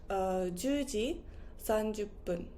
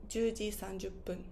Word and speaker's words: 分: So you could also say, or your answer could also have been 10時30分. 10時30分. With P because it finishes with 0.